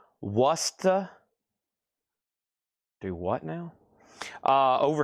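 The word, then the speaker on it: Worcester: Warchester is pronounced Wora. Worusta.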